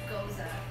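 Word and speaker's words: Gueuze: Yeah, so So you got two that's different- goose and Goza. So But And they are that's separate. it. I'm sticking with that. It's That's, Goza.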